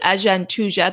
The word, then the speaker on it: Agantuja: And then the final type of Jwara, and the eighth type, which is Ajantuja, that's spelled Agantuja.